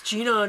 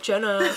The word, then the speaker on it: Gina: up next Gina Irene it's Gina not Jenna we know she also dumped her last name too it was Auto and I'm thinking that could be misconstrued a lot if they mispronounce Gina what are they going